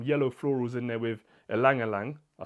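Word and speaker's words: ylang-ylang: I think some yellow florals in there with ylang ylang.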